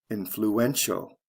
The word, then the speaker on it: influential: t i a l the syllable stress goes from the first to the third syllable influential look at the next